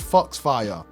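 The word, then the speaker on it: Fox-Fire: enemies and yes guys i realize i'm saying it wrong it's because i miss mozilla firefox i know the ability is actually called fox fire you know i don't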